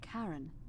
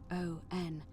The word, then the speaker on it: Charon: pronunciation is a little off. The name you heard wasn't Karen. It was Charon.